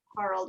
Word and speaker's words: Harald: Harald Scheid, it's pronounced Harald, it's German, is the owner of the company.